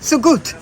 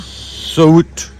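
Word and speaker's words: Söğüt: Sogut. Sogut. I'm going for a silent G.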